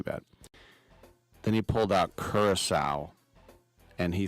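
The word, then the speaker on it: Curaçao: Curacao, and he said Caraco, even had the little cedilles on it.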